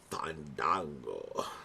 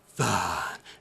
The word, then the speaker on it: Fandango: one thing, and his name is Fandango. No, you said it wrong. It's Fandango.